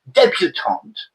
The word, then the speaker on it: debutante: And a debutante, we don't know if it's masculine or feminine because you can't hear the difference. The pronunciation is the same.